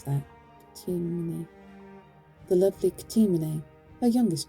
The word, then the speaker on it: Ctimene: how do you pronounce that? Ctimene.